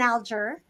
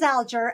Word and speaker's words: Alger: It's always been Alger. It is Alger. A G before an E phonetically is a soft G, right?